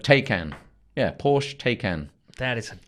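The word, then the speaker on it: Taycan: called the taken and that isn't someone struggling to pronounce Liam Neeson's seminal b-movie the take an but not that but take an yeah Porsche taken that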